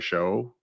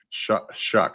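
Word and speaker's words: Shough: But it sort of depends on what you think of Tyler Show, if that's how I should be pronouncing his last name. Shuck, actually. Tyler Is it Shuck. really?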